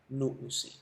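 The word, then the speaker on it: λύουσι: Entonces, en vez de decir luonsi, se pronunciaba luusi.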